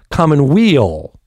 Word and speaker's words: Commonweal: first alex connor the owner and operator of common wheel see i see what you did there i did well then i pronounced it right exactly art gallery alex good